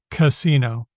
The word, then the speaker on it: casino: You'll notice that the first syllable is always awah. Casino.